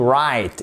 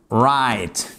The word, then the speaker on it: write: Comment vous le prononcez? To write et pas to write. Jamais. To write.